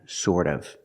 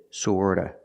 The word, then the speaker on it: sort of: And 50% in the middle, that's kind of and sort of. Remember the T in sort of is pronounced with a fast D. Sorta, sort of, sort of.